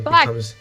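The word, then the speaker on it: b'y: Yes, bi. He's weird, bi. This word is actually also currently undergoing a pronunciation change among younger speakers who are starting to favor the pronunciation ba.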